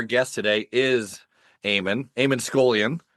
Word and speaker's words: Scullion: Yeah, I guess I should have asked you how to pronounce the the last name since I've never asked you that before. Is it Scoolian?